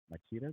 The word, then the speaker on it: Machida: And we are doing this interview in Machida, Japan. Is that Machida, Machida. I want to use a different pronunciation.